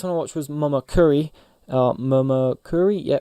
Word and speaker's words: Momokuri: Momokuri, yeah, pronounced that right.